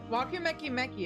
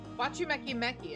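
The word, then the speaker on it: Wachumeqimeqi: Wakumeki Meki is a gathering spot. Why do I keep saying... It probably is spelled Wachumeki Meki. There we go, yeah. Wachumeki Meki is a gathering spot for skilled artisans of all kinds.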